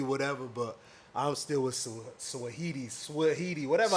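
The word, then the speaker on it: Saweetie: Yeah, listen, you know me, you could call me whatever, but I'm still with Swahidi, whatever how you say it name. Sweetie.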